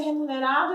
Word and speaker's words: remunerado: Então, assim, como que a gente pronuncia remunerado em espanhol? Olha o R, olha o som do R no começo da palavra, como é forte.